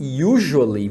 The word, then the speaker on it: usually: outra coisa é que usually você fala com som de J mesmo tá sei que